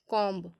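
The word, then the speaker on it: comb: पर साइलेंट होता है तो देखिए अगर किसी भी वर्ड में बी एम के बाद आता है तो वहां पर बी साइलेंट हो जाएगा किसी भी वर्ड में देखिएगा तो जहां बी एम के बाद आएगा तो वहां पर बी साइलेंट हो जाएगा तो फॉर एग्जांपल इसमें देखिएगा जैसे बॉम कॉम थम तो यहां पे देखिएगा तो यहां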